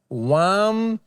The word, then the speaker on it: Wampanoag: Wampanoag.